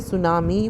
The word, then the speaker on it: tsunami: क्या कहते हैं बच्चे सुनामी with the T silent another word in द